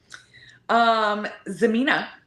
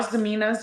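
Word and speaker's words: Xemina: Zemina, spelled with an X, because we love that.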